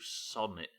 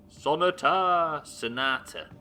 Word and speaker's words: Sonata: Option 1, sonate, or option 2, sonnet. No, it's not sonnet, is it? Shut up, Stubbler. What do you know? Neither. Sonate, sonnet, sonotator. No. Left and then. Sonata. Ah, like Sinatra.